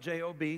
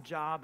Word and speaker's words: Job: all right it's spelt j-o-b some people think his name is job but it's job okay he went through